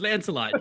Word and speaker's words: Lancelot: Lancelot, you got that right.